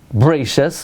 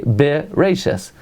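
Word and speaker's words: בראשית: But there are other words like Bereshis, where we don't say Bereshis, we say Bereshis, where we pronounce the Sheva.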